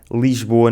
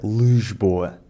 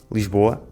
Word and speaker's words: Lisboa: Ao contrário do que muitos não lisboetas pensam, Lisboa não fica Lesboa. Ou dizemos rápido Lsboa ou dizemos lento, com o i, Lisboa. Não venham cá com histórias de que dizemos Lesboa, porque isso não é verdade!